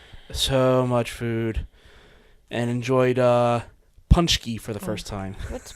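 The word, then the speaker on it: pączki: family pronounces it not correctly either, but it's Punchki.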